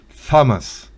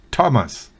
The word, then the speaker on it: Thomas: henker Jeff significa pañuelo la H es muda en Thomas no es famas sino Thomas la H es muda en